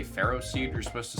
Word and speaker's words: Ferroseed: Apparently, you're not supposed to say Ferroseed. You're supposed to say Ferroseed.